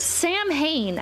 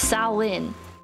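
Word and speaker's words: Samhain: you pronounce these cuz I heard Sam Hayne at the bottom is actually pronounced sain but what are the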